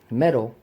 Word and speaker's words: metal: collect military stuff and I collect medals Metals this is a metal m e d a L right metal these keys for example are made of metal b m e t a l and I hear so many people say you know they collect Metals metal right this is metal but they're talking about the medal and so like said